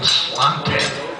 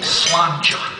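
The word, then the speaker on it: sláinte: People keep going slante, but it's really slanja, and it means your health.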